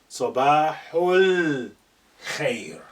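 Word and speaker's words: صباح الخير: Ignoring your pronunciation, the alif is now silent. Sabahul khair.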